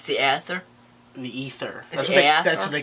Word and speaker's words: Aether: It's the Aether. The Ether. That's what they called it. It's A silent.